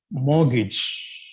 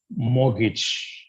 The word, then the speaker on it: mortgage: should be pronounced as morgage morgage the R and T both are silent so it should be pronounced as morage and another common L